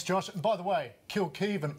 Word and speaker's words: Kilkivan: and by the way kill keev almost rhymes with Scott Beav if you're looking for